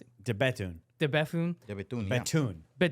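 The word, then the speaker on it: De Bethune: How do you pronounce it? De Betun.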